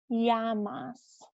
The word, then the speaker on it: llamas: If you see two L's next to each other, it is pronounced like a Y sound. Like we've learned como te llamas already. That's got the two L's and it's pronounced llamas.